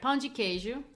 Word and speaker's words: pão de queijo: Did I say that correctly? You did okay. You tell us how to say it. You did it right. Pão de queijo.